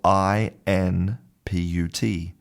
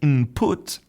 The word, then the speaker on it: input: So, we substitute We actually change the n of n for an m. And so, if you listen to native speakers, they say input as if the word was spelt i m p u t input.